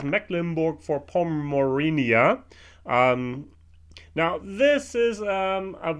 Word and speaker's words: Mecklenburg-Vorpommern: for poor Mauryan na Wow I mispronounced my own I my own state in English because I never say for Poland I can speak in a German but I've been not very good because it's mecklenburg-vorpommern eeeh now this is